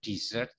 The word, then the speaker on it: dessert: Kalau S-nya 2 itu dibaca dessert, itu makanan penutup. Kalau S-nya 1 bacanya desert, padang pasir.